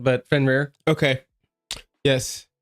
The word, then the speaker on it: Fenrir: Um, it is spelled F E N R I R.